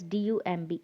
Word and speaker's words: dumb: the fourth word is d u m b it's dumb dumb okay in all these